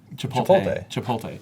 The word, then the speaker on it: Chipotle: Chipotle.